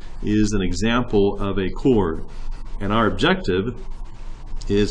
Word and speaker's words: chord: apply properties of chords remember that does have an H there but we pronounce it as if it is a chord that you use to charge your cell phone and what is a chord you will remember that